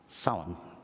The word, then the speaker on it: Samhain: Samhain. Thank you. Okay. It doesn't sound anything the way it spells, so it's difficult.